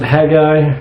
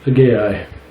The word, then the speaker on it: Haggai: turn to Hai some most people pronounce it Hagi but I'm pretty sure it's supposed to be Hai so that's how I'm pronouncing this is chapter one